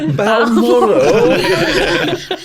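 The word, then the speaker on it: Balmoral: with the Royals at Bal moral okay oh my God I can't even say it I should have practiced this B moral that is how you have to pronounce it when you're announce moral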